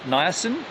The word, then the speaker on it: niacin: before nice and am i saying it right niacin yeah interesting interesting think i'm gonna go and